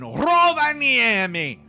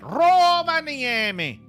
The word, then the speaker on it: Rovaniemi: at the weather in Rovaniemi. That's how you say it. Rovaniemi. Let me see. The Finns, they do roll their R's. I really don't think you say it as Rovaniemi, but it wouldn't surprise me.